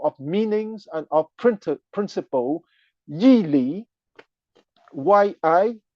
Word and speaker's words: Yi Li: And he will boost what is called the school of meanings and of principle, Yi Li, Y-I, Yi Li, L-I at the third tone, as opposed to the